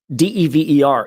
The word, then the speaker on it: Dever: So a single consonant following a vowel is a hard vowel. D-E-V-E-R is pronounced Dever.